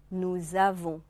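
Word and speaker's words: nous avons: 。Nous avons 啊，这个连诵以后，原来的 s 不发音的 s 发成 z 音，而这两个词组合在一起，读成 Nous savons，我们知道啊，一个清音，一个浊音。Nous savons 是我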